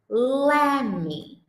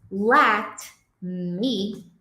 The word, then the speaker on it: let me: Quando no meio da frase você encontrar esse let me, a tendência é que o nativo vai pronunciar lem, a tendência, tá?